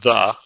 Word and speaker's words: ye: uh by the way the word ye is pronounced the so it is not ye it is the and it's using the thorn and the thorn is